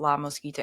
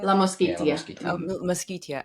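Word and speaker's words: La Mosquitia: So le let's talk a little bit about La Mosquita. Am I saying it correctly? La Mosquito. La Moskeia.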